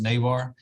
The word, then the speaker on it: Navarre: well first mr garcia gave me the uh the benefit of a spanish pronunciation it's actually pronounced navarre uh but you could